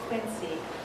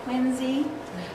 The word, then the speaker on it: Quincy: and his family have moved from quincy which they don't say it like that in massachusetts they say quincy but quincy was named